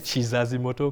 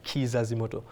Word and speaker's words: Kizazi Moto: It's funny because Ugandans pronounce it as Chizazi Moto because we say Chi here because Ki is usually Chi, but it's Kizazi Moto.